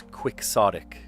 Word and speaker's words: quixotic: like Don Quixote, you would say it's quixotic. So, it's not Quixote anymore, you would say it's quixotic. You actually pronounce the the X and all that.